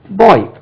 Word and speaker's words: boy: boy, boy. இதுக்கு பாருங்க, நம்ம பாய் என்று உச்சரிப்போம், பாய்.